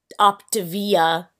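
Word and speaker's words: Optavia: that's that's like why op op opavia apparently is how you say it that's why opavia isn't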